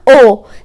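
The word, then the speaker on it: ho: انا عايز اقولك ان الاتش او الاكا في الايطالي حرف هفأ ما بيتنطقش، اسمها او، دي اسمها اي، دي اسمها ا.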